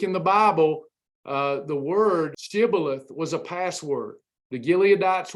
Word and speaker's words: Shibboleth: But the thing was, the Ephraimites, even though they stole the password Shibboleth, they could not pronounce it. They would say Sibboleth.